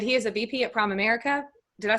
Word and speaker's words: Primerica: But he is a VP at Primerica. Did I say that right? Primerica. Primerica, yeah. Yeah, Primerica. Let me pronounce it right.